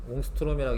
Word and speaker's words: 옹스트롬: 사이에 써놔요 그냥 상식인데 1옴스트롬이라고 하는 단위가 있긴 해 옹스트롬이라고 읽는데 요게 이제 0.1